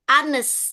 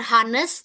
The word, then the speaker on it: honest: Honest. Jadi ini bukan honest tapi honest. Honest gitu ya.